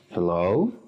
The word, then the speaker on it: hello: Ejemplo, decimos hello, el acento siempre en la segunda sílaba.